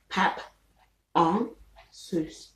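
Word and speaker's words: pap en sous: um then there is pop on okay which is spelt p a p e n s o u s okay there's spaces in between each word pep on sous okay so paponsus is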